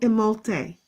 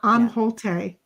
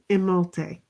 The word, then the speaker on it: Imholte: Oh, Imholte. Imholte. Imholte, not Amholte. It's Imholte.